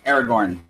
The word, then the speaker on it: Aragorn: I have Aragorn. Aragorn is correct. Thank you for pronouncing his name right, like so many of the Schmodown competitors don't. Dominic. Aragon?